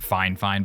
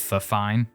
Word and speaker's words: Fifine: xlr2 which is crazy fine fine it is pronounced fine fine by the way not the fine did send this to